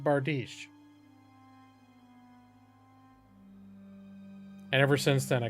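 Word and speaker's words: bardiche: going to say something and i was like bartiche they're like oh how cute he mispronounced bardish and ever since then i called the bartiche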